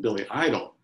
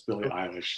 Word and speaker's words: Billie Eilish: first heard her name, I thought my kids were mispronouncing Billy Idol. And I thought, you know, with the rebel yell and everything, I thought, come on, kids, it's Billy Idol. No, Dad, it's Billie Eilish.